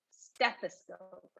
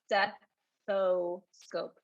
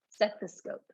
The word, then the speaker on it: stethoscope: this as stephi scope stethoscope not steppo scope and be careful that we do pronounce the th stuff stethoscope okay awesome oh my